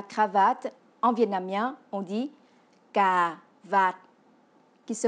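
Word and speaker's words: cà vạt: pour dire la cravate en vietnamien on dit car va qui se prononce car vas y si on ne garde pas le son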